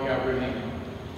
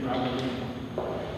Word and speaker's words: Gabrielino: And I always thought she was pronouncing the name Gabrielino wrong. And it wasn't until I got older that I realized that that's the Indian way, the Indian Spanish-like way of pronouncing it.